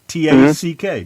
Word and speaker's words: tack: And Tak. T-A-C-K.